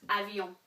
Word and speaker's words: avions: So this is pronounced avion. Don't pronounce the S at the end of it, okay?